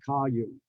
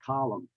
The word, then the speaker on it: column: be careful because some still retain the classic l sound like column it's not colume it's column so you have to